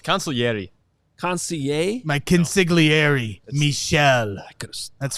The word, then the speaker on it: consigliere: It's consigliere.